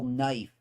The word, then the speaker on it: knife: Like how do you how do you spell knife if you sound it out?